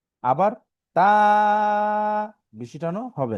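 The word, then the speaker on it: ت: আবার তা, বেশি টানও হবে না, অল্প টান। তা, তা। যদি উচ্চারণটা দেখি, বাংলায় যে ত আছে, এই যে আমরা বাংলাতে যে ত, সেই ত এর মতো উচ্চারণ তা।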